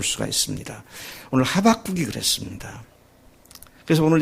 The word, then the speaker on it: 하박국: 제가 미국에 갔더니 어떤 교포교회에서는 호박국이라고 그러더라고요. 그래서 아마 O를 갖다가 미국 사람들은 O를 아 발음하니까 그제 온 줄 알고 호박국이라고 그랬나? 그런 생각을 했었는데 그건 아니고요. 그냥 웃기는 말로 호박국 선지자 그런 얘기를 하더라고요.